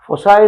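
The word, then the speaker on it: foci: Hyperbola, the equation of the hyperbola when फोसाई, कोई इसे फोकाई pronounce करता है, कोई फोसाई प्रोनाउंस करता है। फोसाई इज मोर एप्रोप्रिएट, मोर अच्छा, मगर आई टू use pronounce as फोकाई।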